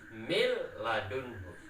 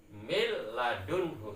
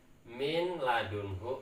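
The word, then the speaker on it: مِنْ لَدُنْهُ: Jadi cara bacanya mil ladunhu seperti itu. Tidak boleh dibaca min ladunhu atau tidak boleh dibaca mil ladunhu, tidak boleh.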